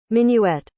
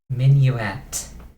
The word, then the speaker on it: Minuet: You learned the midway of Forest. Is that how you pronounce that? Hold on. Minuet. Minuet.